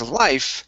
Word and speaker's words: life: Uh, next up is Okay, now with life, uh, it sounded like you had said a v sound, saying life. Okay, so make sure to pronounce that F. It's an unvoiced sound.